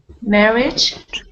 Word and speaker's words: marriage: Marriage. That's it, marriage, yes. So quite often we have an AGE, which is a kind of idge sound at the end, like village, marriage.